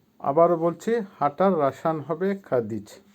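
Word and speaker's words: ходить: ইংলিশে ওয়ান্ট চাই চাওয়া বা ওয়ান্ট খাতেজ ভার্ব খাদিজ খাদিজ এর অর্থ হচ্ছে হাঁটা হাঁটাকে বলে খাদিজ রাসায়ন হবে খাদিজ বা ইংলিশে ওয়াক আবারো বলছি হাঁটার রাসায়ন হবে খাদিজ ভি দিদি ভার্ব ভিচ এর বাংলা হচ্ছে দেখা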